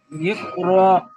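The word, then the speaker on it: اقرأ: এবারে তাহলে কেমন পড়বেন, উচ্চারণটা করেন। ইকরা, ইকরা, র নয়, ইকর, ইকর।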